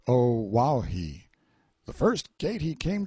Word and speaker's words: O'ahu: him after this island o'ahu pronounced oh wow he the first gate he